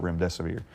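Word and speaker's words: remdesivir: and the truth about Rim death of year and even coined the phrase if you can't remember what the name is just it rhymes with run death is near and that has literally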